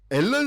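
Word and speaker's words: Alan: 항상 이제 하시는게 있어요 앨런 스미스를 알란스럽습니다 어 이게 아 근데 생각해 보면은 영국식 발음으로 생각한다면 알란이 맞을 수도 있어요 그 스미스 나오고 다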